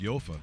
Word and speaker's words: Jofa: And that terrible Jofa helmet. Yeah. You have all those choices and you pick a Jofa helmet? Yeah. Come on, Rudy. Someone said, you know it's pronounced Yofa.